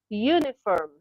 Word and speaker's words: uniform: Number seven dash uniform. Uniform. Now look at these words. They can begin with vowel letters but they are not vowel sound.